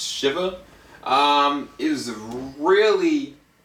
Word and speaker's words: Shiva: I think the name of this episode is pronounced Shiva.